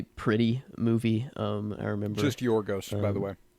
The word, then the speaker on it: Yorgos: I remember just Yorgos, by the way. Yes, Yorgos. I think I did add another syllable in there.